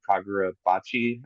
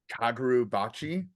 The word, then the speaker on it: Kagurabachi: There's one in particular that I've been reading for a while now called Kagura Bachi. I don't know if you've seen anything about that yet. Kaguru Bachi.